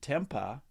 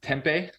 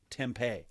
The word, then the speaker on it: tempeh: to hear more about this uh so temp Tempa is that how you said it fermented soybeans yeah usually it's pronounced tempeh tempeh yeah but yes it's made from fermented soy